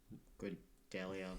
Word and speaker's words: Grodalia: for fast travel to Grodalia, which is on the other side of Thakrata from where you were. It is spelled like gorilla almost. I didn't know. Not even remotely. Well, it's pronounced similar. Grodalia, gorilla.